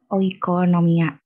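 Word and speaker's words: οἰκονομία: Kata-kata ekonomi ini muncul dari bahasa Rusia, menurut beberapa sumber Rusia yang bacanya tuh oikonomia gitu.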